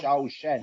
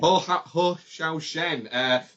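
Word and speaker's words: Hsiao-Hsien: Because I will pronounce it wrong. Hsaio-Hsien. Hsaio-Hsien.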